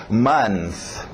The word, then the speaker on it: month: Então, month. Month. TH de sapo no final.